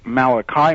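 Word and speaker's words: Malachi: I went and met Malaki Martin sometimes pronounced malikai Martin on the radio uh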